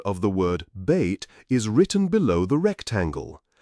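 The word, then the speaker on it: بيت: The letter ba is the first letter in the word bait in Arabic. The pronunciation of the word bait is written below the rectangle.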